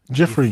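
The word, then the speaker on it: Giuffre: But it's not spelled the way you think. It's spelled G I U F R E. Jeffrey.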